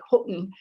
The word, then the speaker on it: Houghton: of sound but it's people will say things like houghton i say houghton um and i have the glottal stop in there but locally you might hear it more like holton um and then another